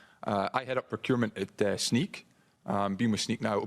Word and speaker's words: Snyk: I mean, I was told it's Snyk, like sneaker, okay?